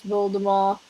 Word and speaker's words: Voldemort: was just like it's voldemort you don't pronounce the t in a view but